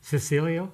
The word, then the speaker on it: Cecilio: I'm looking at your your name and if you were Italian it would be Chichilio obviously it's but it's Cecilio is that yeah I believe it's about the Italian pronuncio as well.